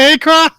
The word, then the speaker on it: Akron: Is he coming out of Akron? Nah, dude. Yeah, first of all, you got to pronounce it right.